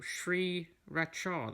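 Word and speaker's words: Sriracha: in case you're wondering it's pronounced Sri raka well Sri Racha they say oh I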